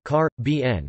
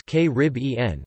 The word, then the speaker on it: Caribbean: It has been suggested that speakers of British English prefer car, bn, while North American speakers more typically use k-rib-en, but major American dictionaries and other sources list the stress on the third syllable as more common in American English too.